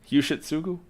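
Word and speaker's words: Yoshitsugu: Yushitsugu. And by the way, that's actually how it's pronounced.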